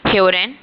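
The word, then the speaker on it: hören: हरेन इसे प्लीज अपनी वोकैब में इस वर्ड को ऐड करिएगा। यह हरिन है। आप देख सकते हैं कि यह ओ उमलाउट है।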